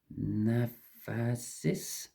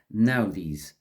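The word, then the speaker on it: Naudiz: Naphasis. Let's just check that. I was a mile away. It's Naudis. Okay, so that is my best pronunciation of it.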